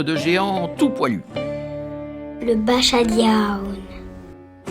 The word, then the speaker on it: Basajaun: géante tout poilu le bachadia il a un drôle de nom c'est parce que son origine est basque ça se prononce bachadioun mais ça s'écrit B